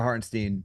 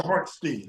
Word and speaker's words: Hartenstein: Harp, you mentioned Isaiah Hartenstein for a second being like a is low it key. Hartenstein or Hartenstein? Hartenstein? I think it says Stein is how he pronounces it. So I'm going with Stein.